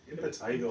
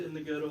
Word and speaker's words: impetigo: I said it right this time. Impetigo. Impetigo. I said in the ghetto last time.